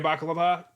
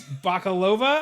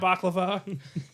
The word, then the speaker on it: Bakalova: It's Bakalova, I think. Bakalova, I believe is how you say it. It's not baklava.